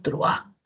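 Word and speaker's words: truhán: Si la palabra regular es truan, entonces si la mayor fuerza de voz no estuviera en la a sino en la U, sería truan. Es un truan y la palabra no tiene esa pronunciación. Es un truan, no es un truan, ¿no? Una persona despreciable, ¿no? Entonces es un truán.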